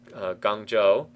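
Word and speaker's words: Guangzhou: Caesar has moved into gang Joo another Chinese name again I I'm not an expert on Chinese pronunciation at all but the zh sound is pronounced like a j or close to it as close as we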